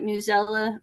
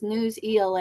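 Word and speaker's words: Newsela: have subscriptions to like newella is that how you say it I always called it newella but someone that said it was news Ela and I was like oh we have the free version of news or new yeah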